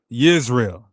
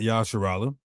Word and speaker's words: Yisrael: How do we know that you pronounce Israel like Yisrael in Hebrew and not Yashar'el?